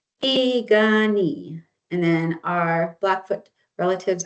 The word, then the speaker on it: Piikani: They say Pikuni. So, the P's are like you pronounce them with the B's and the K's we pronounce them with the G's.